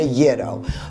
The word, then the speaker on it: gyro: Yes, for years I mispronounced it. It is actually the gyro.